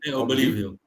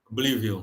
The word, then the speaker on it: Oblivion: É, é, inclusive o diretor também fez um filme chamado Obvilion, Obvilion, não sei como é que se pronuncia também. É BS, que é um filme, é, acho que é Obvion, né? Oblivion. Oblivion.